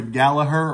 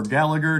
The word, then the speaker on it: Gallagher: Picked up two records from Rory Gallagher, or Gallagher, depending on how you want to pronounce it.